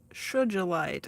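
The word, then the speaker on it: sugilite: uh oh here's uh shelite I think is how it's pronounced s u g i l i t genuine and it's a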